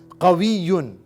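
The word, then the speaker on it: قوي: Strong masculine के लिए कवियुन.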